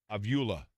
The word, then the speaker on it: Avila: And Jan pointed out to me that it's Robbie Avila. Robbie Avila is how you say it for Indiana State.